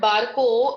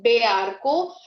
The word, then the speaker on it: barco: But when you pronounce this word barco, you will not say Bearco, you will say barco.